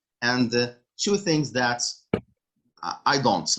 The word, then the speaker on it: et: don't say end that's a in english right so et is a which is and so you pronounce it if you want to